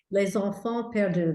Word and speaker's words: Les Enfants Perdus: Les Enfants Perdus, how do you say that? Les Enfants Perdus, the lost children.